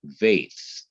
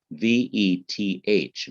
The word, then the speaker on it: Veth: It would be called Veth, V-E-T-H, Veth. And it would not have a B pronunciation, B, but it would have a V pronunciation, V.